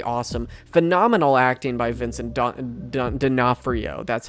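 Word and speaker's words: D'Onofrio: Phenomenal acting by Vincent Don Denafhrio, that's how you say his name.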